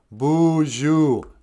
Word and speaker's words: boozhoo: oh boy and then two o's sound like ooh in moon um so like uh